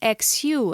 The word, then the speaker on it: Xu: And it's also found in very common names, such as HSU, which in pinyin would be written XU and pronounced Xu.